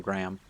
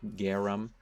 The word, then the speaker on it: Garum: I call them Graham. It's just easier for me to pronounce, I think, but it is Garum.